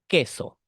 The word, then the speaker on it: queso: down a u in between the Q and the e or the Q and the I all right queso all right therefore in this case h you also need to remind that the U is silent the the letter o in this case is completely silent h silence silent yeah and you should ignore it okay just remember that letter Q sounds like K okay and it can